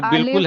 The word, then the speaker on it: बिल्कुल: बालकुल पढ़े लिखेंगे लेकिन बिल्कुल है वर्ड। नहीं बोलते बिल्कुल आपने दुरुस्त फरमाया। ये बिल्कुल वर्ड है। तो सर जो प्रोनाउंस करना है वही बोलूं? बिल्कुल। हां वही वही हां बालकुल नहीं पढ़ेगा भाई।